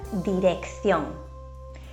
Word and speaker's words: dirección: vocales E o I, la primera C se pronuncia de forma fuerte, como una K, mientras que la segunda C se pronuncia de forma débil. Por ejemplo, la palabra dirección.